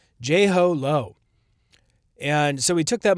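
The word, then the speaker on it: Jho Low: It's like JLo, but but ho. Jho Lo.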